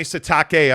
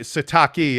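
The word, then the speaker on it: Sitake: how much respect he has yeah for Kalani satake I mean sataki I don't want to say his name wrong p-i-l-i like he's showing respect like to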